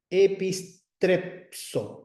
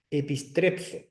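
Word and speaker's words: ἐπιστρέψω: Epistrepso, con la psi, porque está la sigma escondida ahí entre la pi y la sigma. Epistrepso.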